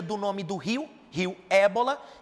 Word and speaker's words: Ebola: A pronúncia, Rio Ébola.